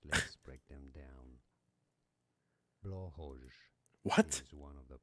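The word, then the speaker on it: Blåhaj: talking about, it has different pronunciations. Let's break them down. Blowhoj. What? Is one of the Blowhoj? British, I believe. Let me know in the comments. Blowhoj. Alternative pronunciations in other Norse languages include blowhigh, Blowhigh.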